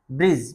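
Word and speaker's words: bridge: रहेगा बजट माने लेखाजोखा बी आर आई डी जी ई ब्रिज ब्रिज माने पुल यहां इसमें डी साइलेंट रहेगा तो बच्चों अच्छे से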